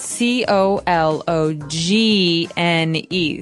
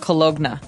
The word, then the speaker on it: cologne: It ends with uh it it's spelled C O L O G N E. So, you don't really say the G. It's not cologna, right? It's cologne.